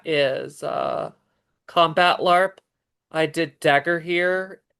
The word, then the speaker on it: Dagorhir: I did Dagger here. It's spelled Dagorhir, Dagger here, combat LARP in Pennsylvania, and there's several forms of that kind, and they call it wacky bats.